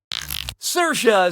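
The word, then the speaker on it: Saoirse: yeah sure you do how do you pronounce uh her name sersa Ronin SAA so what' you pick sersa says that's the correct way to say her name yeah now when you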